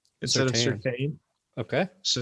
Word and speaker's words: Surtain: I think at some point in Patrick Surtain's family, they started pronouncing their own last name incorrectly. Yeah. Otherwise, why is the I there?